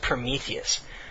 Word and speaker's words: Prometheus: 4 letters. Very, very simple. And when he reads it, he stumbles over it. He's like, and like. And I'm like, how the fuck do you mispronounce that name? And I'm already having a bad day, and so I very smugly, I raise my hand and I say, "Oh, that's me," but actually it's pronounced Prometheus.